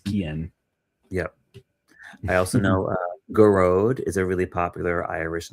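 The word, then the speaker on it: Gearóid: I also know Garode is a really popular Irish name, and they shorten it and give the nickname Gaz. Garode is Gearoid.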